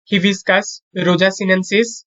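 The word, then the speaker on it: Hibiscus rosa-sinensis: শাপলা, নেমফিয়া, নোচালি, জবার, হিবিস্কাস, রোজা সিনেনসিস।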